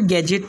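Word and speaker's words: gadget: इसके बाद में एज और बजट और गैजेट, यानी इसे हमने बजट पढ़ना है, एज पढ़ना है, गैजेट पढ़ना है।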